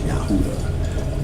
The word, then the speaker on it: Yahuda: That's how you say it. They say Jews, but it's Yahuda.